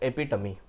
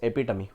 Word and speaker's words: epitome: EP it is not EP it is actually pronounced as epitomy the word is pronounced as epitomy okay right so if I say Rahul is